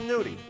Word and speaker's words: gnudi: It's called Gnudi. It's spelled G-N-U-D-I.